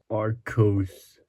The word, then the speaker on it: Archos: The Aros 9 or the Arro Stein. I don't know how you pronounce this. Aros.